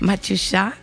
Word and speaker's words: Matyusha: Est-ce que j'ai bien prononcé? Matyusha, bonjour. Oui. Matyusha.